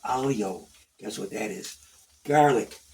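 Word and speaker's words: aglio: little black color okay now here's another one alio well see in Italian you the G silent so it's pronounced alio guess what that is garlic now I could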